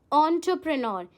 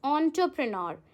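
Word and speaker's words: entrepreneur: I read it ऐज़ एंटरप्रेन्योर। यह एंटरप्रेन्योर नहीं होता है। इट्स एंटरप्रेन्योर। ठीक है? तो बहुत इंपॉर्टेंट है कि आप किसी वर्ड को कैसे प्रोनाउंस कर रहे हैं।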